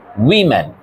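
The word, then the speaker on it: women: ও বল ওম্যান ঠিক আছে এবার প্লটা এটার উচ্চারণ উম্যান উইম্যান ঠিক আছে সিঙ্গুলারটার উচ্চারণ হচ্ছে ওম্যান প্লুরালটার উচ্চারণ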